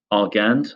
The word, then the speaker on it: Argand: we have Jean Rober arand I guess you pronounce it in the French way um first proposing the